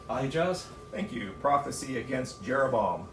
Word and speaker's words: Ahijah: Ahijah.